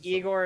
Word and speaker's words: Igor: engi are also famous bears the Russian composer Igor Stravinsky and if you never let us have